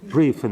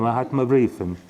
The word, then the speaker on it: Mahatma Brieven: Am I saying it right? Briefen, the Mahatma Briefen, Mahatma letters, right?